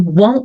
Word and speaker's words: won't: Veja que eu nem pronuncio o T, porque eu vou emendar já com o I. So that you won't, ó, bem nasal, não pronuncio o T.